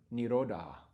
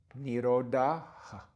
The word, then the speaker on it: nirodha: Notice we have the dot on the H at the end of the word nirodha. Nirodha. Just kind of a whisper of the vowel that occurred before, which was the A, nirodha.